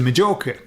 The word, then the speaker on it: Majorca: go to Mallorca or they would go to Majorca, okay? And that was, Oh, because you spell it with a J, don't you?